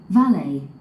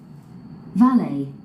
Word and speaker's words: valet: valet valet 벨레. 발음이 두 가지가 있죠. 벨릿, 벨레.